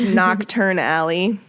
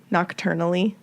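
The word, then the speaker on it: Knockturn Alley: And like Nocturne Alley. Nocturnally. It's dark.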